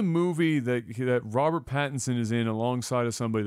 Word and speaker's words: Pattinson: that a bad abadan we always say his name wrong Pattinson not Patterson had it Pattinson Patterson